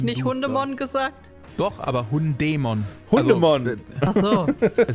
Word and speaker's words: Hundemon: Und es wird aber eigentlich Hundemon ausgesprochen oder Hab ich nicht Hundemon gesagt? Doch, aber Hundämon.